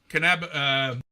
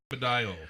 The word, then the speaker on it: cannabidiol: Cannabidiol. I think that's how it's pronounced. Okay. Cannabidiol.